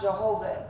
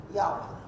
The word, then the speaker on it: Yahweh: taken Hebrew know that there is no J in Hebrew right that's why Jehovah is not Jehovah in Hebrew it's Yahweh so which is the